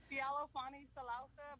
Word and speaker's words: Fealofani Salausa: We have the most amazing Pacific Islander woman down south, Fealofani Salausa. Did I say it right? Give me your last name. Fealofani Salausa, but I go by Fani.